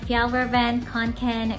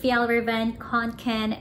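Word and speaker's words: Fjällräven Kånken: So today guys, magre-review tayo ng FJALL RAVEN KANKEN mini bag.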